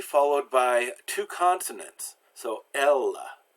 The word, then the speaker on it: Elles: So Elles. So the first E is pronounced eh, and the second one is silent because it's at the end of the word.